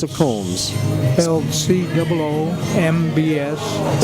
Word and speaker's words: Combs: coms CS coms coms C of coms SP C O M BS spelled like but pronounced like Combs